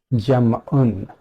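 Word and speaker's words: جمع: us look at Gemma jam on is the right pronunciation if we fully vocalize it so let me wipe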